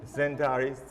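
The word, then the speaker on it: XenTari: so the pronounce them again for me. Zentari starts an X.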